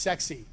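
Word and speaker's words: CEXC: first is called c-e-x-c this is pronounced sexy really is trust me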